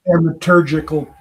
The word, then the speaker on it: thaumaturgical: 10 in both stories the divine stranger has the thaumatur How do you pronounce that? Thaumaturgic Thaumaturgical powers.